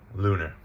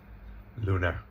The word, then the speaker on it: lunar: So two syllable lunar meaning the moon. Lunar. Luna, not Lunar.